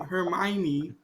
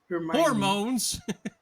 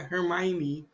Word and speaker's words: Hermione: Hermione. Hormones. Yeah, Hermione.